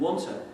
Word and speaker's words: want to: Now, you won't be surprised to know that these oo's become schwa because they're weak syllables. These are the strong syllables. But also these sequences of long T's or two T's become reduced to one. So you end up with the pronunciation oughta.